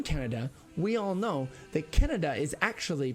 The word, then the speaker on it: Canada: we all know that Canada is actually pronounced Canada and I'm not kidding look at the word it's c a n a d a it's Canada this a here is actually a long a okay if it was